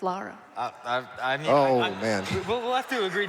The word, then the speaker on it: Lara: Oh, Laura. No, it's Lara. Man. We'll have to agree to disagree on this one, Tiffy. I'm sorry. We're not disagreeing. It's Lara.